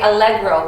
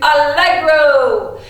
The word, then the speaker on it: allegro: for fast is Allegro say Allegro one two three Allegro and that was really crazy fast it's not like Alexa because my kids have become become obsessed with Alexa but Allegro means something